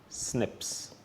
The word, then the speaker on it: SNPs: written as cpes and they're pronounced as Snips so whenever we use